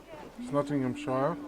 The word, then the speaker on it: Nottinghamshire: And we are in this episode we're going to be continuing the Nottinghamshire. Yes, I said it right. Nottinghamshire story arc.